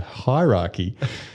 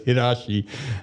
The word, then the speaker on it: hierarchy: Turns out that's the way he pronounces hierarchy. So I was, and so he's explaining a simple concept of that dogs have a hierarchy, but but in his pronunciation, it was hirashi, and none of us knew what it was.